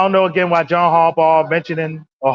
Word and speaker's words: Harbaugh: I don't know again why John Harbaugh mentioning or Harbomb I'm sorry I mispronounced his name Haraw bomb he's he's sitting